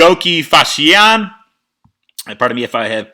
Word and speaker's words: Fassihian: Would you please pronounce your last name? Fassihian. Fassihian.